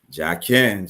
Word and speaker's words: Ja'Ken: that's pronounced Jack King Jack Ken just like the column in the Bible in the house of Solomon yes there you go